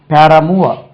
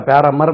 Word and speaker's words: paramour: Then இப்படி ஒரு word இருக்கு பாருங்க, PARAMOUR, பேரமூவ. பேரமூவ, பேரமூவ. அது பார்த்தா பேரமர் மாதிரி இருக்கு, பேரமூர், பேரமூவ.